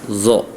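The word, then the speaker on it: ظ: Jadi kalau huruf zo itu ujung lidah bertemu dengan gigi seri atas zo.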